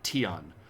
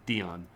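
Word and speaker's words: 天: for Heaven Is Here tion or you might see it as Dion um the T and the D are effectively pronounced basically the same way in Chinese a little bit different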